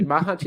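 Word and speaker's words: Machač: but anyway yeah like mahaj is is probably mahaj is probably the correct pronunciation but Hest the I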